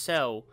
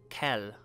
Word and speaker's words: Sel: Okay, so note, the star is pronounced Sel, not Kel.